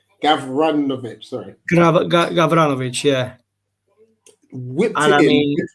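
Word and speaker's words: Gavranović: I pronounced it wrong. Gavranovic, sorry.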